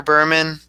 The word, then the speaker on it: Bremen: And it's pronounced Bremen, just to let you know.